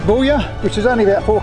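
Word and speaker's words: Boulia: just popped into buoya i think it's pronounced bullia which is only about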